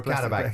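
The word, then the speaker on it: Qarabağ: Carrier bag. Yeah, how do you pronounce it? No, you're right. Yeah. Plastic bag. Yeah, no, Karabag. Yeah, Karabag, yeah. So you look at it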